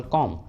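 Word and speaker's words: comb: For example कॉम, कॉम के last में है बी और बी के जस्ट पहले एम है तो बी को प्रोनाउंस नहीं करेंगे, इसलिए प्रोनाउंसिएशन होगा कॉम कॉम।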